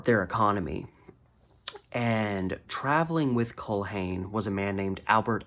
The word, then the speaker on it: Culhane: I'm guessing his last name was spelled C-U-L-H-A-N-E, and I'm guessing the H was silent. So Culhane. I should probably check. Okay. Everything I'm looking at is saying you do pronounce the H.